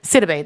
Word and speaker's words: Sidibe: I don't know how to pronounce her last name. Sidibe? Sidibe.